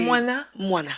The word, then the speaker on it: Mwana: Est-ce que j'ai bien prononcé ton nom? C'est Moana. Moana, c'est ça.